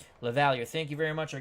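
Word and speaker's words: LaValliere: out his wonderful channel here is the pronunciation from baseball reference for the White Sox catcher Mike luvalier Mike lavallier oh my Lord we got lots of pronunciations but we'll go that way Mike lavalier the levalier I like a little better that's like the French Canadian thing lavalier thank you very much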